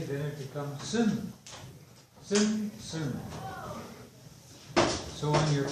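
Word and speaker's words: san: Now, those of you who have copies of your of the phonetic alphabet, remember that just an A by itself is like a U in sun. So S-A-N, sin, sin.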